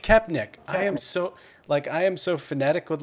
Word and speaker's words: Koepenick: Koepenick. Koepenick.